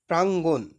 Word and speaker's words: প্রাঙ্গণ: বলছে প্রাঙ্গণ শব্দের সঠিক উচ্চারণ কোনটি এটার সঠিক উচ্চারণ হচ্ছে প্রাঙ্গণ ঠিক আছে এরপরে দেখো 24 কবিতায় ছোট ছোট